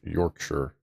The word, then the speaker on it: Yorkshire: That's not Shire. Yorkshire. York. Yure. Yorkshire. That's right. Shire isn't Shire. It's Shure.